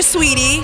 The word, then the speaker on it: Saweetie: me awesome so your sweetie and sweetie isn't spelled the way it's pronounced so how did you